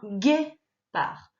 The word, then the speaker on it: guépard: Alors, il y a un D à la fin de guépard. Rajoute-le, parce que je ne pense pas que tu l'aies mis. C'est un D muet, mais il est dans le mot.